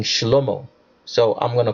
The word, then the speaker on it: Shlomo: Or let me pronounce it right, because the name Solomon is actually pronounced wrongly in the Hebrew. It should be King Shlomo.